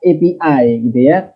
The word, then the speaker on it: API: ada istilah api ini ini lidahnya orang Indonesia bacanya api sebenarnya yang tepat epi3 karena itu bukan kata dalam bahasa Indonesia api yang berarti Bara